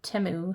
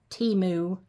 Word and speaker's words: Temu: I got that off of Temu. I guess that's how you say it. I've been saying it Temu for the longest. But the commercials say it's Temu.